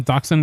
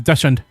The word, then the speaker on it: dachshund: Because I remember as a kid I always pronounced that as dashund because that's how it's spelled. I know that's not how it's pronounced, but that's how I used to pronounce it.